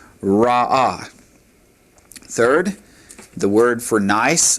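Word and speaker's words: רעה: Ra, and to make that feminine, all we do is add the comet's hey to it, and it's pronounced ra'ah.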